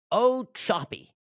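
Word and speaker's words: Ochopee: So Trump yesterday uh flies down to O Choppy, Florida. That's how you pronounce it. O Choppy. The Florida names, all the Indian names, it's difficult sometimes. So O Choppy is where they're building the Florida Alcatraz.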